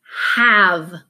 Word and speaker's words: have: Now, oftentimes we see an E at the end of the word and it tells us to make the A a long A. And that's where this rule does not function. The E is here because in English, no words can end in a V. So the vowel is ah.